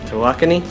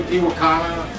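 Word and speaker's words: Tawakoni: Tawakani? Yeah, because some people would say Tiwakana.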